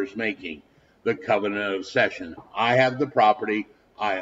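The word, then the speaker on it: seisin: called the Covenant of session the Covenant of session is how it's pronounced now I will tell you the tests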